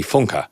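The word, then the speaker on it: Funke: During an interview, she corrects the interviewer and says, "My name isn't Bethany Funk, it's Bethany Funka."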